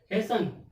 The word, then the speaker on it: hasten: HASTEN। इसमें भी एस के बाद टी आया और EN से पहले भी टी आया तो टी क्या हो गया? साइलेंट हो गया। तो क्या आ जाएगा? हेसन।